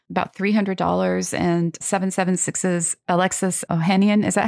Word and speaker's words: Ohanian: And, you know, and it was in beta at the time, about $300 and 776's Alexis Ohanian. Is that how you pronounce his last name?